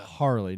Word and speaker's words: Harley: Harley, not Harley. Harley. Harley Carb. They put the wrong emphasis on the wrong syllable.